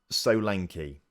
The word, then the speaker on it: Solanki: either way apparently he according to him it's pronounced so lanky so I mean that's probably quite simple actually looking at that so lanky but that's what it